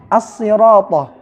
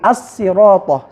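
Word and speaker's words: الصراط: Misalkan as-sirata. As-sirata dibaca dengan sad. Ada pula yang membacanya dengan sin, as-sirata, seperti itu.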